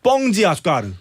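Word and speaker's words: Pão de Açúcar: 심지어 브라질 쪽 가면 빵이 아니라 뻥이 돼 뻥. 발음이. 예. 그래서 거기 설탕 빵산이라고 있는데 뻥지 아수카르.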